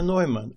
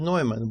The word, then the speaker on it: Neumann: Professor Neumann, or maybe Newman using English pronunciation rules, spent most of his mathematical life in Australia, so I will take a few minutes telling about him.